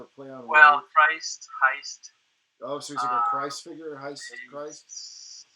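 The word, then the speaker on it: Heyst: from that play and heist of course rhymes with christ he is he is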